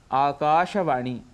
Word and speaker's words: आकाशवाणी: पूरा बोलना चाहिए जनता ऐसे ही आकाशवाणी इसका उच्चारण शुद्ध यदि करना है तो वह है आकाशवाणी दिन दर्शिका दिनदर्शिका अर्थात